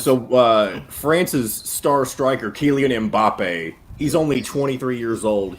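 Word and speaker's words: Mbappé: But Kylian Mbappe. I mean, that is, first of all, excellent pronunciation by John, the producer.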